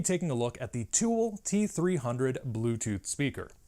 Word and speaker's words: Tewell: Now today, I'm going to be taking a look at the Tewell T-300 Bluetooth speaker. And that's spelled T-E-W-E-L, like jewel, as opposed to T-O-O-L.